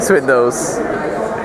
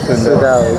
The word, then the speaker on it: Swindells: No, that's not how you spell it. What, Swindells? Yeah. Swindles? Swindells. Swindells. I've got Swindells. Swindells. Oh shit. I've been saying it wrong all this time. Swindells? You don't know. It's one out on camera. It's like Wastel. Wastel. It's Wastel. And then I'm pretty sure it's Swindells. Okay.